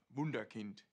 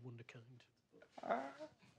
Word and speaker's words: wunderkind: of you saying that instead of wunderkind which is the proper pronunciation wow it was well's